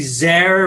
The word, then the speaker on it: Zare: Well, Dr. Zare, rhymes with care.